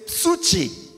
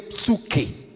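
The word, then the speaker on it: ψυχή: Maintenant, l'âme, c'est psuche. Psuche. On dirait mieux psuke. On prononcerait ça comme ça.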